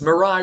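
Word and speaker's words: Mirai: No, it's Mariah, which means future in Japan.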